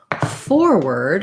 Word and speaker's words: forward: light sound reward versus forward has first syllable stress and so what you're going to see there is that the 4 is long and the word is short and has a reduced vowel so we no longer have the or sound for the ward